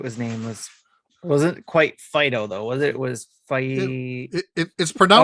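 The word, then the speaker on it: Fidough: nameless it wasn't quite fido though was it was fight it's pronounced that's right it's just d-o-u-g-h it's dough yeah perfect yes so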